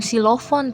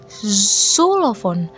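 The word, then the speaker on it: Xylophon: Cara bacanya gimana? Bukan silofon tapi sulovon. sulovon bukan silovon tapi sulovon.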